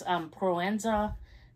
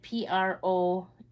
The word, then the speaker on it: Proenza: Is it Proezena Schouler? I know we've all seen these bags. Proenza, it's like Proenza, and then Schouler.